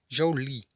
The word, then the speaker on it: Joule: Nesse sistema, a unidade de medida do trabalho é o Joule, pronuncia-se Joule, cujo o símbolo é a letra J.